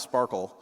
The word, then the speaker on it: SPARQL: I like to call the first one, it's pronounced Sparkle, for those who don't know, but I like to call it SparQL, because you fight with it.